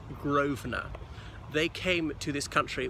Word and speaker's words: Grosvenor: of the River Thames so this is called Grosvenor Square because it's owned by the Grove and her family it's spelled gross for normal pronounced Grosvenor they came to this country with a Willem